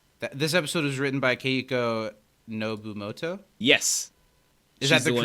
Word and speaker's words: Keiko Nobumoto: This episode was written by Keiko Nobumoto?